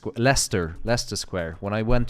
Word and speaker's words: Leicester: when you read it it's green witch or lester leicester leicester square when i went to leicester square